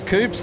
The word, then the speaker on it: coupe: They're proper coupes now. Yeah, they are. Yeah, or as the Americans say, coupes. Coupes. It's not a toupee, it's a coupe.